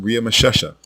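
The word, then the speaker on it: Ramesses: once does the name ria machesha which is the correct way to say ramses ever appear in the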